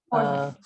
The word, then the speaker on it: Jorge: I don't know how to pronounce that name. Is it Jorge? Jorge.